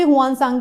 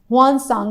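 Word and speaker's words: Xuanzang: हुआन सांग, इसको भी हुआन सांग ही बोलते हैं। देखिए हुआन सांग, ZUAN हुआन सांग बोला जाता है प्रोनाउंसिएशन।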